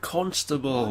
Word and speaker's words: Constable: See, that's how you pronounce it. Constable. It's got an O in it. It's not you.